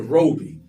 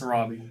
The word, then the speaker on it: Robie: Is it Robbie or is it Robi? Oh yeah, it's Robbie.